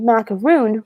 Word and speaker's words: macaroon: It's actually a macaron. So it's Macaron. And when it's spelled like that, there's no coconut. If it's spelled macaroon, which is Macaroon, those will specifically have coconut in it.